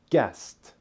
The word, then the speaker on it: guessed: these two words you pronounce the second word guessed which ends with the T sound notice that guess ends